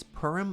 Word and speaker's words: Purim: Since it's Purim, I have a cider with me.